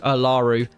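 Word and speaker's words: Olaru: And I did get his name wrong. It's actually Darius Alaru.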